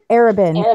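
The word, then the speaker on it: Arobynn: Arabin.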